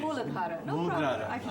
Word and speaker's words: Muladhara: This is called Muladhara. Sometimes my pronunciation. Muladhara.